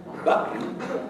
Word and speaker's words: button: English all the time if I say for instance the word button button can you hear it there button I will pronounce that t not as a t but as a glottal stop and it means my